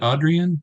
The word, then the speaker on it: Adrian: is it Adrian? Is that how you pronounce that? Yes, sir, it is.